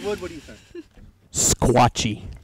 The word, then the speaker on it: Sequatchie: Squatchy. Squatchy. That's how you say it. It's kind of like Lebanon.